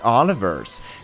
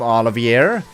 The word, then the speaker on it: Oliver: name change considered was Oliver's. The original suggestion was... Yeah. Alright. Alright. It's been Oliver from the very start, and I never pronounce him Olivier.